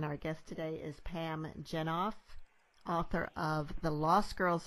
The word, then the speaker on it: Jenoff: and Caroline and our guest today is Pam jennife author of the Lost Girls of Paris and am i pronouncing your name correctly yeah okay great so